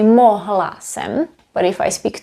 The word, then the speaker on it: mohl: vowel at the end, the natives, including me, sometimes leave out the last letter, which is the L. Mohl is pronounced as moch.